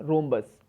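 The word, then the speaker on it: rhombus: रूबरू मत बोले हम इंग्लिश में क्या बोलेंगे रोंबस आरएसओ एंबूलेंस ठीक है यह यहां पर साइलेंट होता है तो समचतुर्भुज को कैसे डिफाइन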